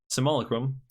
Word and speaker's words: Simulacrum: When Solemn Simulacrum enters the battlefield, you may also, it's been pronounced as Solemn Simulacrum. I believe you do want to pronounce the U in Simulacrum, but that's just me.